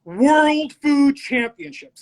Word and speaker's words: World Food Championships: First, you're saying the name wrong. It's World Food Championships.